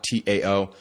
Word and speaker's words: Tao: One is a nootropic called Tao, T-A-O. Some pronounce it Dow, but I'm from Indiana, so I pronounce it Tao. You're just lucky I don't pronounce it Teo.